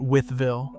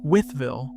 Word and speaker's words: Wytheville: Next up is Wytheville, the pronunciation trap that catches almost every narrator, human or AI. It isn't Wytheville. Locals compress it to Wytheville, 3 syllables folding into 2 the way it's said on the ground, and missing that is